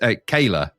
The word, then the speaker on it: Kale: So in the first episode of William Tell, titled Shaitana's Eye, the series opens in the mystical land of, I kept saying Kale, but it's pronounced Kayla.